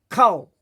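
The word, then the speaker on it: כל: Now why is it co not k? Because in the modern Hebrew, the kamat when it's at the beginning, usually it's a first syllable and it's a closed syllable, meaning there's no vowel after the next word, then they tend to use it as an o sound.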